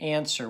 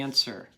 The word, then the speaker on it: answer: is a tricky one there's a silent letter in here pause it and try it okay how did you do what's that silent letter and answer what's the tricky part it's not W right the answer okay all